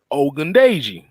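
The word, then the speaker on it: Ogundeji: wartime tv if if you want me to pronounce the name it is onto the combo ogundaiji or if you want to sell or if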